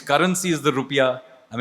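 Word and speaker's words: rupiah: Its currency is the rupia. I mean it's the correct actually the correct pronunciation rupia and that's why yeah the national symbol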